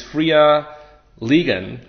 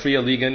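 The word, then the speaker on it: Fria Ligan: creator of free League which is friia Lian something like frea lean in Swedish and it's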